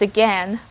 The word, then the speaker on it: again: pronounce this it's just again but i heard someone saying again and turned out that's actually correct remember the word gain like no pain no gain it's just like that